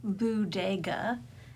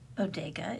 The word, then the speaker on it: Boodega: This is the horror budga. And no, I'm not mispronouncing it. It is not bodega. It's a bodega intentionally.